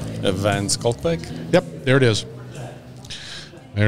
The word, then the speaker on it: van Schalkwyk: name nope nope nope nope how do you pronounce your last name evance skul yep there it is there it is now